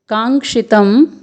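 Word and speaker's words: काङ्क्षितं: फिर है कांक्षितम नो, क में आ का स्वर, फिर ङ में हल चिन्ह लगा हुआ है, तो यहाँ पर ङ का उच्चारण अर्धवर्ण के रूप में होगा। फिर है संयुक्त वर्ण क्ष जिसमें ह्रस्व स्वर है, फिर है त जिसके ऊपर अनुस्वार है, तो इसको हम बोलेंगे कांक्षितम नो।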